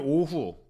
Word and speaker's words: 오후: 오늘 오후 오자는 오늘 오후에 오후의 오자는 대표적인 장음이에요.